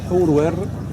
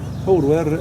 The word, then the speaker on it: Horwer: Horus le Grand, dans l'ancienne langue égyptienne, son prénom se prononce Horwer. Horwer, les Grecs ont modifié à Arweris.